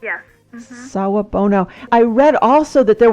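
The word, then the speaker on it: Sawubona: it's it's Saab Bono is that how it's pronounced yes Saab Bono I read also that there was a response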